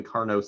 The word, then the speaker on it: Carnot: something that's called the carnot cycle named after a french fellow i presume because you don't pronounce the t at the end of the word or at the end of the name and so the carnot